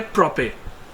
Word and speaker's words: Propet: देंगे, उसका नाम है प्रोपे। जैसे कि आप देख रहे हैं कि ये PROPET, टी यहाँ पे साइलेंट हो जाता है, इसका जो सही प्रोनाउंसिएशन है वो प्रोपे है।